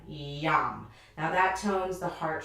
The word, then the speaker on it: yam: going to be using the word yam y a m yum now that tones the